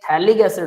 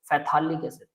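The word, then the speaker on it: phthalic acid: लेकिन अगर ये थैलिक एसिड हो, फैथालिक एसिड है ना तो फैथालिक एसिड, अगर इससे स्पेलिंग याद रहती है, याद रख लेना, मेरा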